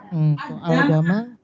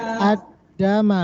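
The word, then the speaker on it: الدَّمَ: Al-Dama. Alif lam komariah atau samsiah? Samsiah gimana cara bacanya? Al-Dama. Ad-dama, langsung ke dal. Kalau samsiah lam alifnya nggak kebaca, alifnya dihidupkan, lamnya tidak terbaca.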